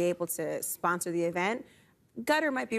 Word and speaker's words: Qatar: Cup being hosted in gutter is that I'm pronouncing that I've heard it different Qatar gutter I'm calling it well any place